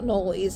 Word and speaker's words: anoles: that are called anoli I think it's spelled a n o l e s I think that's what they're called anoles I think that's how you pronounce it um so they're